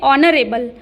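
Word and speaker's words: honorable: किसी भी शब्द में अगर एच हो और उसके बाद ओ हो हो तो वहां पर उसका उच्चारण अ के समान हो जाता है। यानी कि ऑनरेबल ऑनरेबल नहीं बोलेंगे दोस्तों यहां पर। ये बोलना गलत होगा। यहां पे बोलेंगे ऑनरेबल। तो इसीलिए ऑनरेबल बोलेंगे।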